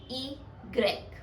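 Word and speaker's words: i grec: letter इज वा एंड we pronounce इट एस इ गक ई ग्रेक एंड the word इज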